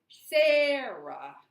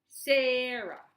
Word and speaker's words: Sarah: louder longer and higher so if I say my name I say Sarah I voice drops when I do the second syllable Sarah okay okay and the